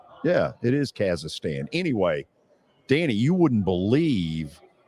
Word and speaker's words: Kazakhstan: Yeah, it is Kazakhstan.